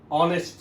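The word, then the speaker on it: honest: শব্দের উচ্চারণটা আমরা দেখব। হি ইজ অ্যান অনেস্ট ম্যান।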